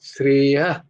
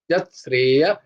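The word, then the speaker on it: শ্রেয়ঃ: যদি কোন বিসর্গ থাকে ওখানে কিন্তু হ এর উচ্চারণ হয় না ওখানে একটু স্ট্রেস হয় জাস্ট শ্রেয়া মাঝখানে যদি বিসর্গ থাকে সেন্টেন্সের মাঝখানে যদি কোন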